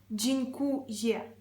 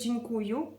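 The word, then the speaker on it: dziękuję: Звертаю вашу увагу, джінькує. Українці дуже часто говорять: "Джнькую - це неправильно." джінькує.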